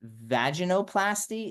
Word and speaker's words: vaginoplasty: surgeries typically involve V I always pronounce this wrong Dr Zara can you help me vaginoplasty is that it yeah that's right vag um or vulva plasty